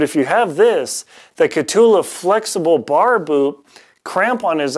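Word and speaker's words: Kahtoola: I always pronounce it Catahoula, but it's Catula.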